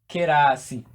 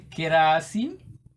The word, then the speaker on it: kirasi: A class is called kirasi. It is a borrowed word. A class is called kirasi. And from here we have ki as a syllable, ra as another but elongated, and si.